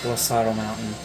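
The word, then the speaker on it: Glaseado: That's actually how you say it, is Glaciato. I've been saying it wrong for so long, and yeah, it took me a long time to realize that it's Glaciato Mountain.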